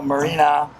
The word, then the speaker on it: Morena: Where I go, it's Morena. The correct pronunciation is.